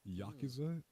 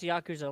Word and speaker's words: Yakuza: Hey, pronounce Yakuza like you say like you pronounce the word Jacuzzi. Yakuzi or no, pronounce the word jacuzzi like yakuza. I don't get it. I don't get it. It's just they're two very similar sounding words. You just pronounce them like the other one.